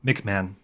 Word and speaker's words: McMahan: say your last name oh it's um McMan McMan okay I totally would have gotten it wrong McMahon um who